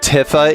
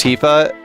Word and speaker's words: Tifa: You know, a a when I was seven, I said tifa even though it's tifa. I have heard tiffa before.